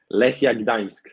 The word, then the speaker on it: Lechia Gdańsk: Lechia Gdańsk.